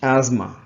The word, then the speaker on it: asthma: suffering with asthma she is suffering with asthma pronunciation that is asthma asthma so anyway that is not our point